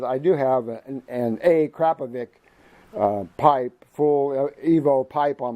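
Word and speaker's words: Akrapovič: So I go to titanium every time, but a Krapovic, it's not a Akrapovic, which is the way I was pronouncing it. It's Krapovic. Crap. Just think crap. Krapovic.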